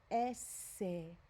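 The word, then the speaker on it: ese: like array the letter s in spanish is pronounced esse remember we said the letter e is an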